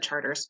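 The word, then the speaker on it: Chartres: not from New Orleans it's spelled Charteris it said charters it's cool it was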